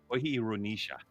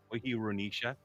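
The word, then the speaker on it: Choirunisa: All right, just so you guys are aware, the archer from Indonesia, how you pronounce your last name is Wahirunisha. Okay, Wahirunisha.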